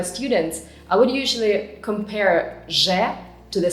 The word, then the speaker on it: З: Zh resembles the French je, like in the words bonjour, jouer, étrange, zh. And z sounds the same as the English z, like in the words zoo or zebra, z.